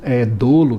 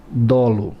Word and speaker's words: dolo: Já vi alguns alunos, às vezes, né, por algum desvio aí, fala dolo. Não é dolo, é dolo. Tranquilo? Dolo. Paroxítona terminada em O, né, não é acentuada, por isso é dolo.